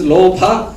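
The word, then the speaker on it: lobha: And this is Lopa. Remember, L-O, Lo, B-H, Pa. No, B-H, Pa. And with A, Lopa, greed, craving, and attachment.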